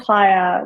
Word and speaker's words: Chaya: I to start with it's pronounced haa but whatever works ha